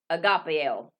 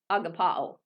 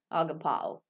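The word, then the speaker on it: ἀγαπάω: It will be agapeo. Agapao is the correct pronunciation. Agapao.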